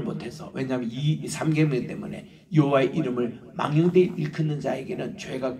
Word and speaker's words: 여호와: 이게 Y 발음이 없습니다 그 J 발음을 차용해서 이게 여호와라고 읽습니다 요를 읽을 때는 여호와